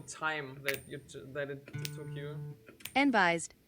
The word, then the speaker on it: enbyzee: Yeah, I'm really sorry for the cursed pronunciation of the text-to-speech. It's enbyzee actually, so...